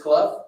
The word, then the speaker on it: Clough: It is Clough. I got the opportunity to meet him. It is Clough. It rhymes with rough and tough.